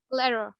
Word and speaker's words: letter: Single T आ जाए तो आपने उसको ट साउंड से प्रोनाउंस नहीं करना, ठीक है। आपने उसको जो है ड साउंड एक देना है, एक स्लाइड से ड साउंड।